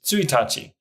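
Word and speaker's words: 一日: counters in Japanese now there's one irregular word that you should be aware of - and that is su Itachi or the first day of the month this is a unique reading limited to basically this one word it seems like something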